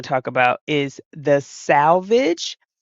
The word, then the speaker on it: Selvage: So there is the next term we want to talk about is the salvage, which is spelled Selvage, or some people pronounce it salvage, Selvedge.